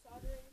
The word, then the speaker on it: solder: Apparently it's pronounced soldering.